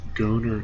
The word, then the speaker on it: Goner: We're going to start installing jump drives into the ships, and I'm heading to the Goner Temple. Kind of rhymes with boner.